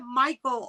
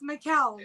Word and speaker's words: Mikkel: You pronounce it Michael all the time. I'm like, what's up? It's Mikkel.